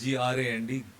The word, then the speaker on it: grand: If you notice the spelling of this word here, it is G-R-A-N-D, and is pronounced as grand.